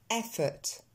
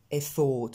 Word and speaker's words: effort: Intention, attention, central, effort, et non pas effort ou effort. On l'entend à peine ce ORT. En fait, on entend le son E qu'on a vu au début, suivi du son T.